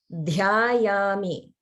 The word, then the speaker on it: dhyayami: So the last word, there's a Maha prana, and it's dhyayami.